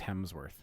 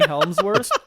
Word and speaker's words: Hemsworth: a total dick yeah it's Hemsworth is it yeah you keep saying Helmsworth and that's from Lord